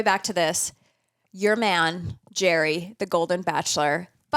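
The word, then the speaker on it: Gerry: his name Jerry yeah but it's spelled like Gary yeah so you think it's Gary but it's Jerry G with a g e r r y trome problematic and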